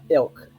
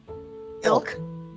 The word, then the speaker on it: Ylk: Yeah, Ilk. Ilk. Yeah, the Y is silent.